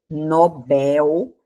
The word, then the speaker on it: Nobel: É a palavra, ó, Nobel, né? Prêmio Nobel, né? É uma palavra oxítona. A sílaba tônica está aqui da mesma forma de papel, ó.